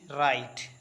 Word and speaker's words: write: WRITE राइट, राइट means लिखना। राइट में जो W है वो साइलेंट है, वो राइट नहीं पढ़ते हैं, राइट पढ़ेंगे।